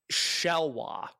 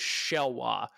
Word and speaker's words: Xelhua: What does Cup say how to pronounce his name? Shelwa. Shelwa? Okay, so Shelwa. That is the luchador in CMLL shows. He's been feuding with Guerrero Maya Jr. It is XELHUA. It is Shelwa.